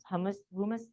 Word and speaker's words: humus: And so it burned all the nice, anything that would have enriched the soil, the humus, how would you pronounce? Humus. There we go, like human, but humus.